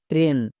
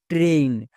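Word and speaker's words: train: যখন এই ইউজ করবো ট্রেইন দুটোই বলতে পারো যদি এ আই এর জন্য এ সাউন্ড করো তাহলে ট্রেন বলো আর যদি এই সাউন্ড করো তাহলে ট্রেইন বলো ভুল কিন্তু হবে না যেমন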